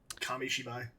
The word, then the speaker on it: Kamishibai: I gotta find the word because I always mispronounce it, so hang on. Kamishibai.